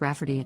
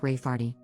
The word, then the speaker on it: Rayfarty: name my niece Rayfarty, pronounced Rafferty, not at all like Rayfarty.